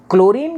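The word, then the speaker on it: chlorine: देखिए जैसा मैंने बताया क्लोरीन का जो प्रोनंसिएशन है that is क्लोरीन सी एच एल ओ आर आई एन बट फ्लोरीन का जो प्रोनाउंस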